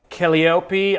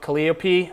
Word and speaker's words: Calliope: other one is called keliopi i don't calliope calliope i think is how you pronounce it the greek name um and it's kind